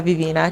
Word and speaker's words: Vivina: "Grounded by nature" Au début la société s'appelait "Vivina" Qui signifiait délice en "Ewe"cela signifie bon, sucré "e vivina", ça se prononce ainsi Ensuite nous avons réalisé aprés maintes